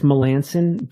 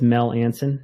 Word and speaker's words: Melanson: I butchering it no well it's it's it's Melanson but I'll tell you a funny story so